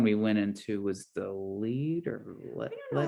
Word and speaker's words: Lied: the wild kingdom of the lead jungle where and it's about so it's spelled like l-i-e-d but yes so this